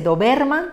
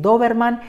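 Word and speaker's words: dóberman: sílaba anterior y finalmente la palabra que vamos a trabajar en esta columna es doberman de tres sílabas de nuevo una palabra del grupo del siete con su corazón en la penúltima sílaba que es ver dice doberman queremos decir doberman y por tanto colocamos una tilde en la o espero que esta experiencia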